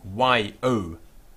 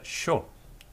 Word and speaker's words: yo: The next word is I, that's capital I, and this is Y-O in Spanish, Y-O, yo, yo. And in some parts of the world you will hear sho instead of yo, sho.